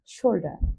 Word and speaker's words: shoulder: Head means মাথা, শোল্ডার means কাঁধ, কিন্তু ব্রিটিশরা উচ্চারণ করে শোল্ডার আরটা সেন্টেন্সের শেষে আর হলে সেটা উচ্চারণ হয় না।